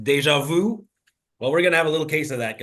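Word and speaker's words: déjà vu: ja all right so we French folks uh have this expression that's called Deja Vu or you may have heard it pronounced Deja Vu well we're gonna have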